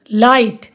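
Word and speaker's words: light: टी में आया जो जी एच है ना वो बिल्कुल साइलेंट रहेगा।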